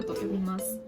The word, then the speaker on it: 挑む: This is pronounced "挑む idomu”.